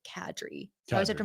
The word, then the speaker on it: Kadri: And he's like, Kadri.